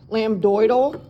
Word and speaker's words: lambdoidal: Lamboidal, that's how you say it. Lambdoidal.